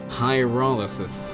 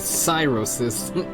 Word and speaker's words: pyrolysis: Such pyrolysis. I was calling it cyrosis.